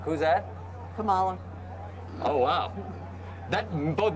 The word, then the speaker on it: Kamala: going to make the four years and the camelbak forget it the camelback who's that kamala oh wow that both mispronounced the name and uh xenophobic yeah absolutely